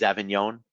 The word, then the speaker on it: Avignon: different perfumes nearby is avignon the g is silent another great area so